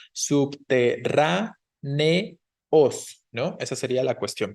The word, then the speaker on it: subterráneos: Lo mismo que subterráneos, recuerden que la E y la O se separan porque son hiato, entonces tenemos subterráneos, ¿no?